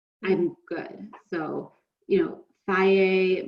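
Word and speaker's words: Fage: So, you know, Faye makes one, it's spelled F-A-G-E. Took me maybe 5 years to learn how to pronounce that.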